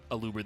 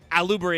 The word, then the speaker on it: Aluber: also people saying like a Luber the boober of duber is uh uh alubra is actually pronounced aluber it's just the rest